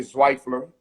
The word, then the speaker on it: Zweifler: Zweifler, that's how you say it, right? Yes, Dr. Zweifler, yes.